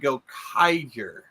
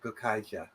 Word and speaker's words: Gokaiger: Go Sager was the one that came before it was self-contained, and Go Kaiger was well, actually it's pronounced Go Kaija. Go Kaija. I'm like that's the Japanese kind of like for example Juken Sentai Julenja.